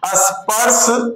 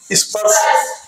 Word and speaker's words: स्पर्श: कंठ, तालव्य, मूर्धन्य, दंत, ओष्ठ या इन सबको जो पंचाक्षरी है, पंचवर्णी है, इनको क्या कहते हैं, स्पर्श। स्पर्श नहीं, स्पर्श।